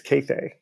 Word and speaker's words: Kathe: Only 2 long A's, Cathay. Cathay. Interesting. Now, where does that come from? It originates in Hungary/Austria, where her father grew up. And instead of saying Kathy, they say Cathay. It's spelled Kathe. There are no accents over any of the letters.